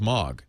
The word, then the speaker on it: MOG: And so Spotify is saying I love you know what my favorite though and I know how to pronounce it is Mog.